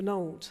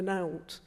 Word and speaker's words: nowt: other thing about that I've never really heard anybody outside of Sheffield pronounce it like we do properly alt for Nolt the usually pouts it out for nowt to rhyme with trout but that really gets